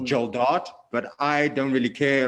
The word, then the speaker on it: Geldart: It is actually pronounced Mm, Geldart, but I don't really care. A lot of people say okay. Geldart. A lot of people call me.